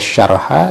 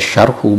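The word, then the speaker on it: شرحا: Intakhabtuhu, aku menyeleksi pada mukhtasar itu, wahada syarah, dan syarah ini bacaannya wahada syarha diatafkan kepada hunya intakhabtuhu yang menjadi maf'ul bih dari intakhabtuhu. Itu yang PDF-nya yang disebarkan itu dibacanya wahada syarhu, mungkin kurang benar ya.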